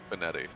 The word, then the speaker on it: Benetti: How do you say? Was it Jason, right? Announcer from the Sox. Jason Benetti. Benetti. Okay, I was double checking. I thought that's how you said it.